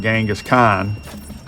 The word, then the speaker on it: Genghis Khan: So if it writes your 6th grade history report about Genghis Khan, that's how you say his name.